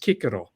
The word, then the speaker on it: Cicero: sort of a s sound so cisero wasn't pronounced Cicero it was pronounced Kiko interesting yeah and and V VI VII I